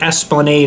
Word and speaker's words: Esplanade: for yourself they are on um Esplanade the Esplanade is called so that's spelled e-s-p-l-a-n-a-d-e-s plan Aid 54 the Esplanade Toronto